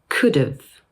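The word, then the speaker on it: could've: in the sentence “I could’ve helped you” In this case the contracted form of “have” is pronounced as an “uv” sound added to the end of the word “could”.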